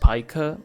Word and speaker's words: Pica: I learned it's pronounced Pica like 2 or 3 days ago or something.